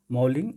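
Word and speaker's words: Mouling: मेलिंग जो है, मॉलिंग या मेलिंग, मॉलिंग पढ़िए इसको, सही प्रोनाउंसिएशन मॉलिंग है।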